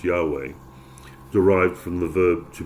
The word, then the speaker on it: Yahweh: For the Hebrew name of God is the tetra grammaran yhw routinely pronounced Yahweh derived from the verb to be and translating as I am who I am.